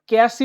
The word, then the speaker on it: Cassie: ক্যাসি উচ্চারণ করবো, CASI বাই ক্যাসি, ওকে? আমি এটা বলে দিলাম কারণ এটা একটু ডিফিকাল্ট আছে, এটা উচ্চারণ করো ক্যাসি।